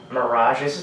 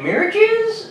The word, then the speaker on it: Miradjez: of this band our band is called uhhh mirages it's a play on words I was really trying to pronounce it myelogenous it's a yes mi RA DJ EZ it's I was like Mira keys oh my oh no no no it can't